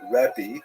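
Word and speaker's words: רבי: rav alone is preferred the term rabbi with that pronunciation. It's actually kind of nonsensical in Hebrew. You don't actually have that word pronounced that way in Hebrew, but that's the way it came down to us in English.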